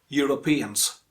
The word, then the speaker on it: Europeans: and people from europe europeans europeans and when you pronounce the europeans make sure that stress falls on the penultimate syllable penultimate means second last